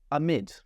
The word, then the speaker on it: amid: For pronunciation, amid.